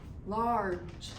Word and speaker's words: large: in the word large large we don't hear that e do we and large is spell